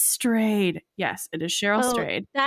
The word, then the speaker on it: Strayed: Yes, it is pronounced strade embarrassingly in undergrad before I'd read the book and understood that she changed her name intentionally to stray and covers that actually in wild. Um, I thought it was some weird uh Norwegian name or and so I pronounced it straed or I don't even know.